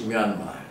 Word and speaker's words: Myanmar: In fact, Burma is the pronunciation given by the British. The original name is Myanmar. Myan is very fast, and then Ma is very strong.